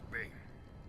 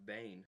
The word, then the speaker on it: Bane: wasn't so good yes Darth Bing the ancient Sith Lord you are that's not Darth Bane hold on one sec there now that's Darth Bane you back in the